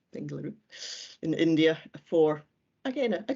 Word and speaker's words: Bengaluru: of astrophysics at bengaluru that's how you pronounce it bengaluru in india for again